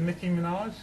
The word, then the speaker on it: Nicki Minaj: got this one I love a bit of Nicki Minaj is that how you say it I don't know Dan how' you say is it Nicki Minaj yeah thank you uh I've got all our